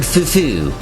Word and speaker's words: Fufu: including their Commander Lord Fufu and you must emphasize that second syllable F I don't know